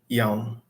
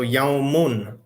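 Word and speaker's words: يوم: So yaumun, a day. But again, we don't pronounce that last vowel if it is the end of the sentence, if we're stopping.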